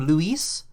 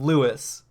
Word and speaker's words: Luis: Also, I just remembered for Grimlock, Louis himself pronounces his name Luis Serra the first time you talk to him. The Yeah, one but this fucking up his name's pronunciation is Leon. Yeah. Leon is the only one who calls him Louis.